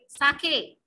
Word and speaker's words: sake: Sa is pronounced like fa in father, means जैसे हम fa बोलते हैं वैसे ही sa बोलना है.